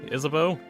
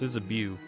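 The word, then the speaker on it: Isabeau: like as an example isabo there's no bow in his name it's is a bu but it's is a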